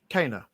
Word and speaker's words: Kana: I want to call it Kenna because that's what it looks like, but it's Kana. Kana is how they pronounce her name in the game.